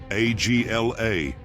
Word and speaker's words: Agla: Agla, pronounced Agla, is the abbreviation of the words Atha Gadol Leolam Adonai.